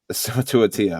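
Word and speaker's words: Suamataia: It's Summa to a T. It ends at T. Yeah, Summa to a T. Summa to a Tia.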